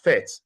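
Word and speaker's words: PhET: We pronounce it as FET, P-H-E-T, fet.colorado.edu.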